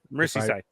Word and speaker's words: Merseyside: I can't read these names because it's Merseyside. it's got to be one of those things where it's like you don't read it phonetically. It's like Worcestershire sauce, and it's gonna be cool.